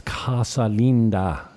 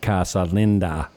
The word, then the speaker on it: Casa Linda: sales manager at Calinda I'm even pronouncing it differently now it's casalinda not casalinda what's that beautiful house Stephen